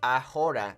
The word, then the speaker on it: ahora: when you're learning Spanish we don't pronounce the H's in Spanish okay so you're not going to say ahora no it's okay once